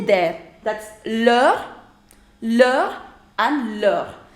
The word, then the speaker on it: leur: That's leur, leur and leur. Do not say it as leurs. We don't pronounce the last consonant.